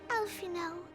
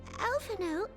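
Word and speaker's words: Alphinaud: Oh, Alphino. Were we not supposed to pronounce the D the whole time?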